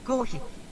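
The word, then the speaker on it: コーヒー: Kohi. Kohi. It's the pronunciation for coffee.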